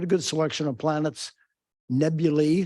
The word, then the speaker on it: nebulae: Nebulae, that's the right pronunciation of the plural, and clusters, globular, open, da, da, da.